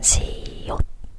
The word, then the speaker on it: 시옷: âm là âm [t]) Nó được viết đúng như thế này, '시옷' nhưng thực tế khi phát âm trong tiếng Hàn lại là 시옫 , đó chỉ là cách phát âm (Khi được dùng làm